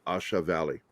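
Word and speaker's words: A Shau: I don't think they say Shao. I think they say Shah Valley, Asha Valley.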